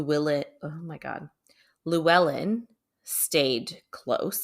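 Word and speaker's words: Llewellyn: belongs to his brother Lou Ellen I don't know if I'm saying it right it's l l e w l l y n I'm saying it's Luellen yeah um so ree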